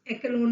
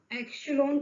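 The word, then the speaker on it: echelon: एशेलॉन, देखिए प्रोनाउंस पे ध्यान दीजिएगा, प्रोनाउंस एक्लोन नहीं है, एशेलॉन है इसका प्रोनाउंसिएशन। एशेलॉन, एशेलॉन का मतलब क्या होता है?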